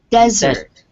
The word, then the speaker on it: desert: This one is desert. with the stress on the first syllable.